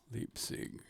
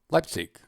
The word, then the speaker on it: Leipzig: that was from berlin leap sing like all lipsy let's see glyph thing um leipzig my fingers were correct my pronunciation was incorrect okay and then the